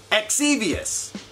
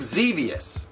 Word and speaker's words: Xevious: Exevious, which is actually pronounced, I think, Xevious, and that's devious.